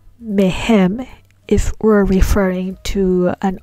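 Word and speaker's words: מהם: Then we pronounce the prefix mem as me and not as me. That's why we say mehem and mehen.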